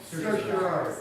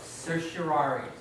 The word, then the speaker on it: certiorari: Certiorari. Certiorari.